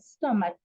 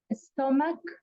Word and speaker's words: stomach: the correct pronunciation okay stomach stomach like at the end is with a K like if it is with a K even though you see that it it is written with ch the pronunciation is not like CH it's like like okay so the pronunciation of a stomach is like a k not a CH another another pronunciation will